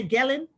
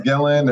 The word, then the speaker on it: Gillan: your last name okay you say gelling it's gillan if you want to pronounce it and create your own gla so either way it works so we were